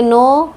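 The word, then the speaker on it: know: तो मैं कहूँगी हम इसे बोलेंगे नो, लिखेंगे के नो, तो वो बच्चों को याद हो जाता है ना।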